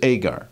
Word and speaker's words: Hagar: For these are the two covenants, the one from the Mount Sinai, which gendereth to bondage, which is Agar, or Hagar as we would pronounce it.